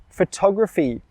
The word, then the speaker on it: photography: Photography, where is the stress? Well, the stress is on the second syllable.